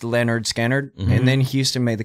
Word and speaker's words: Lynyrd Skynyrd: kind of like Lynyrd Skynyrd's first album was pronounced Leonard scanner and then Huston made the comment he's like